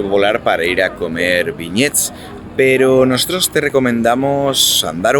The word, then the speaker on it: beignets: Y la guía nos ha dicho que generalmente le responden, bueno, es como el nombre Ben y después un ye en plan estadounidense.